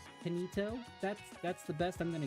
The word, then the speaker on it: Kinito: Where you pronounced it wrong again. Instead of Kai, like kid. I tell you what, I don't think I'm gonna be able to pronounce it right. Kinito?